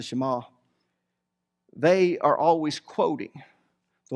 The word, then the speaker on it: Shema: We call it the Shema, but it's the Israelites or the Jews, actually pronounced the Shema.